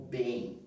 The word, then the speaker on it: bem: Eu vou apagar aqui para não confundir, para ficar só o bem, para vocês ficarem, perceberem o bem. Bem, bem, tá? Nós não pronunciamos o M, bem, bem, nós falamos bem, bem, bem, tá?